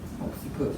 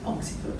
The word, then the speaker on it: occiput: Occiput is the back of the head. Occiput. Yes, occipital is an adjective, occiput is the noun. Okay, thank you. Take your hand to the back, so it's your occiput.